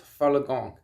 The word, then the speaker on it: Falun Gong: say it I mean I've tried to learn how to say it correctly and I'm pretty sure it's falagong anyways this religion if you